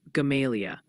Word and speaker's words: Gamaliel: Also, heads up, folks are gently reminding us that Gamaliel, near Mountain Home, is pronounced more like Gamalia.